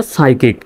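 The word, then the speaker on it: psychic: শব্দের প্রথমে যদি পিএস থাকে একসঙ্গে তাহলে পির উচ্চারণটা সাইলেন্ট হয়।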